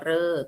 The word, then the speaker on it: ฤกษ์: เท่า นั้น นะ คะ ใน ภาษา ไทย ที่ อ่าน ออก เสียง เรอ เออ ทำ นั้น ก็ คือ คำ ว่า ฤกษ์ นะ คะ อ่าน ว่า รอ เออ กอ ฤกษ์ นะ คะ อ่ะ ที